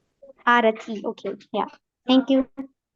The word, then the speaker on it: Arathi: of her pronation okay my name is pronounced as arti arti okay yeah thank you